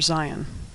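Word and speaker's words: Zayin: It doesn't even start with the letter Zion. Zion makes the sound of Z as in zero.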